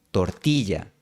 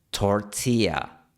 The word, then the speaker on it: tortilla: Algunos extranjeros incluso eliminan por completo la consonante y en palabras como tortilla. La pronunciación gringa es tortilla, sin fricción. La pronunciación nativa es tortilla, con un poquito de fricción.